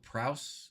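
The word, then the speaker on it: Prowse: i know that um will prouse is how you say his name he does a lot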